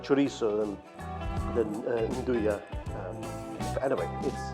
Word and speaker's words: Nduja: Some people pronounce it Nduja. I think they should be Nduja.